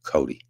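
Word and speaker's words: Coday: Uh it's spelled C O D A Y and it's pronounced Cody.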